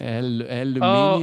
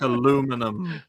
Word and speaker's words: aluminium: Look, gentlemen, I couldn't spell aluminium properly if I said it like aluminum.